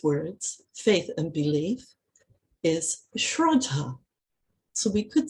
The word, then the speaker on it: Shraddha: Actually, in Sanskrit, when you take it right back to its core basic meaning, is a word pronounced as Shraddha, spelled S-H-R-A-D-D-H-A, in the sort of phonetic spelling we use in English.